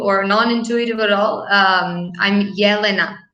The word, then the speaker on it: Jelena: so I don't mix it up again it's Hellena or Jelena oh it's neither yeah yeah that's fine I mean it's like counterintuitive or non-intuitive at all I'm Jelena Yelena okay there you go sound we wouldn't really